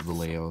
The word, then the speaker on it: Vallejo: met in california i know that vallejo you pronounce it valeo that's about all i know um the blue